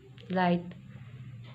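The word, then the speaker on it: light: लाइट या जी एच, अगर मैं इसको प्रोनाउंसिएट करूँ तो ये घ की आवाज़ आ रही है, पर ये नहीं आएगा लाइट।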